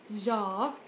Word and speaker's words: ja: see to 8 so you stressed the first one jaw like that nice reason accelerator was